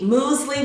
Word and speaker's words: muesli: well I'm going to prepare for you the moly which is a cold Swiss breakfast dish it's like a cold cereal well this musle and that's how it's pronounced it's a cold swish breakfast dish or